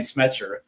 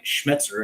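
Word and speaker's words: Schmetzer: to be a very good match for Brian Schmezzer. Brian Schmzer, excuse me. I don't want to mispronounce our our coach's name.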